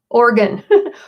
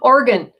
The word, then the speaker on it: Oregon: they all fall off pronounce it organ organ let's see George in Oregon says he that's how he pronounces it hi Yoko Raven look